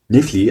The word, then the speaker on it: Netflix: And incidentally, the namesake for a very well-known streaming service, Netflix, although they laughed when I pronounced it in such a way, Netflix, as we know in France, Netflix, the TV show and softcore distributor, is known here as Netflix.